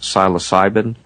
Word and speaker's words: psilocybin: And some of the natural substances include something like, I believe it's pronounced psilocybin.